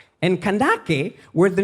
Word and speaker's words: Kandake: But apparently, the original form of this name, Candace, the original pronunciation is Kandake. And Kandake were the name of the queens of Nubia, kind of like Queen Amanirenas.